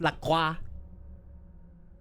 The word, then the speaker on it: LaCroix: It's not LaCroix, but we can call it LaCroix, even though it's pronounced LaCroix.